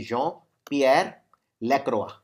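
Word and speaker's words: Jean-Pierre Lacroix: ये याद रखिए, जॉन, वैसे जीन लेकिन प्रोनाउंस करते हैं फ्रेंच में, जॉन पियर लैक्रोआ।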